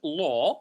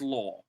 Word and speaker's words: law: Is it a word where a church law? So please for law it's pronounced o, right? Not la. It's law or a Catholic church.